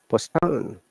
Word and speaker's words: postpone: So it is postpone, not postpone, as I said on the other way. Postpone. It's better to check where to stress the word.